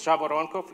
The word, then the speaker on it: Zhavoronkov: name is and my last name is Java on cough it's impossible to pronounce so I come from Russia and I'm